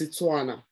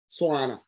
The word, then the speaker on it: Tswana: It's Tswana. Swana. T interchangeable with the S. That's why the T will be pronounced as an S sound.